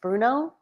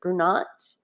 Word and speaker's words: Brunot: I believe it's pronounced Bruno, or is it Brunot? Well, no. Bruno Island, and that's spelled Brunot.